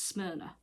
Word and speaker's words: Smyrna: look like it says s-s-m-y-r-n-a but it's smyrna it makes sense now look at it smell across yeah i just couldn't pronounce it for the life of me but